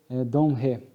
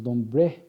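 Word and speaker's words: Dombre: muito corajoso, o senhor Domré. Ele, na época nós falamos Dombré, né, mas aqui a pronúncia francesa, conforme alguns amigos, é Domré, né?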